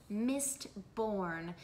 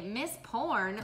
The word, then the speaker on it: Mistborn: I have to pronounce Mistborn, because when I started telling people about this series, they'd say, Miss Porn? What? No.